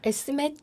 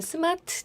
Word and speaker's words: SMAT: 아까 S맷 자격증 이렇게 말씀해 주셨는데 저는 스마트 자격증이라고 읽을 뻔했습니다.